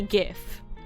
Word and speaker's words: GIF: wild decision considering that the G stands for graphics which has the hard G sound sound why if it's